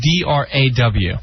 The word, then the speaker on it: draw: d-r-a-w draw draw draw a lot of people and l two like we're going to draw like where i grew up everyone would say we're going to draw all pictures and they would pronounce an l that isn't even there yeah i see oh